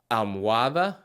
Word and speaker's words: almohada: So when looking at these words, try to avoid pronouncing the H. Vehículo. Almohada.